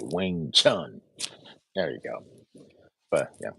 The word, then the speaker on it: Wing Chun: to say yeah wingun wiing Chun like to pronounce it with a V aun uh and then us more American types like to say Wing Chun there you go but